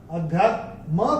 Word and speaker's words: अध्यात्मं: अध्यात्म के ऊपर अनुस्वार के बाद का अक्षर है क, और अनुस्वार के बाद जब क आएगा तो अनुस्वार का उच्चारण होगा अंग। तो ये हम अपनी किताब में नोट करके रख सकते हैं। अध्यात्मं कर्म चाखिलम्, ये ऐसे करके आएगा।